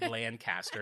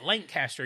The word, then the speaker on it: Lancaster: Halloween battle show because I said Lancaster, and everyone's like, great show, but it's Lancaster, you idiot.